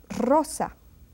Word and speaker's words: rosa: And then if this R is one R, initial R, it pronounced just as if it were a double R. That's why they're together in these rules. Roberto. Rosa is a rose, and rojo is the red color. Rojo, rosa, Roberto, and then carro, perro. You see, you can hear that they are strongly pronounced.